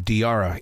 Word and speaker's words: Diarra: first three episodes of diara in Detroit and the thing is is that I love Tiara I was saying it right then I yeah you are it's like Tiara but with a d you as a writer